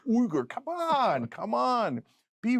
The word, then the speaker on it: Uygur: I mean, how are they supposed to know it's pronounced Uger? Besides which, it isn't. We made that up just so people could say it. It's actually Uger.